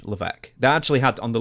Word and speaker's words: Levesque: said Paul Triple H LC now his last name is spelled l a VES q q is that it yeah and it's LC yeah it doesn't even sound right that's French I mean the way